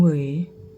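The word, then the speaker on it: 围: ดู ก่อน นะ คะ ตัว นี้ มัน ออก เสียง เหวย นะ คะ เวย ปช ปชต หัว โชั่ว เหรอ เดี๋ยว หา แป๊บ นึง นะ คะ อื ก็ ออก เสียง เหวย เนาะ แปล ว่า ล้อม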